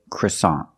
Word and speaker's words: croissant: The first vowel is a short sound. Uh u cruss- The second syllable is ah like hot and stop. So together croissant croissant croissant is the American pronunciation of this word.